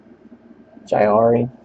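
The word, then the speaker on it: Jaire: I've been pronouncing his name wrong. Jairi. Yeah. Been saying something else.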